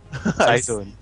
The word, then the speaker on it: Cyzone: then I call Cyzone Cyzone. I see. Because CYZ takes 3 syllables, while Cyzone takes 2.